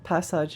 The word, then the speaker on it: passage: Passage read like massage is just passage in French. Oh. I will from now on pronounce passage like massage, but with a P instead of an M.